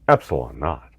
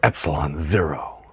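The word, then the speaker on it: ε₀: vacuum permeativity come lately denoted e naught pronounce Epsilon not or Epsilon zero oh it's not quite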